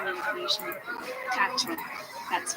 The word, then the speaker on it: quatre: Quatre.